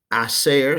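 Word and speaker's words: hacer: a row there with ear to go acer silent h la terrea a ser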